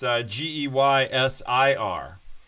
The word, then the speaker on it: Geysir: The word geyser comes from a place in Iceland where the geyser is actually named Geyser, only it's spelled with an I. So it's Geysir.